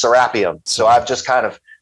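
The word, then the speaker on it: Serapeum: like the angle anglicanized pronunciation like you know Americans say serpium and when they say it over in Egypt it's serapium so I've just kind of I've just picked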